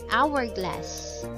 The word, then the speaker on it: hourglass: Because in this word, letter H is a silent letter, and therefore the sound that it makes is a vowel. Sound of O, an honor, an hourglass, an honest man.